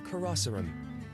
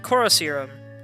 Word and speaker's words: Karosserum: I'm sorry, did he say his name was Karosserum? Because I always pronounced it Corroserum, because it sounds like corrosive serum.